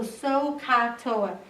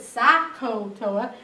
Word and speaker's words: SOHCAHTOA: for tangent it's always opposite over adjacent so sohcahtoa it's important that you pronounce it correctly because if you pronounce it sako toa then you might think it's adjacent hypotenuse instead